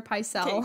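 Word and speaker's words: Pycelle: kind of addresses m m maester ma maester pyel okay good good I was like watch movie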